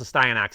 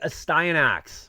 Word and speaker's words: Astyanax: It's pronounced a Stein Ax, allegedly. That's what I'm told.